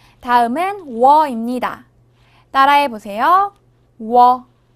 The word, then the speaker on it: 워: 워. 워는 먼저 우를 소리낸 후 바로 이어서 어를 소리내며 발음합니다. 우와 어를 순서대로 빠르게 말해요.